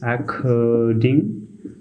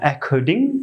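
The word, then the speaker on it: according: হবে ক এর মতো সি সি এর উচ্চারণ হবে ক এর মতো তো সেই সুবাদে এখানে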